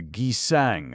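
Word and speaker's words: kisaeng: The Gizang, as the Koreans pronounce the name of the geisha, as the Japanese call the dancing girls, are associated with the cinnamon rose.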